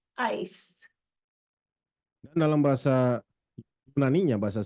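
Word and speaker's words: εἰς: And in the Greek, it's pronounced ice.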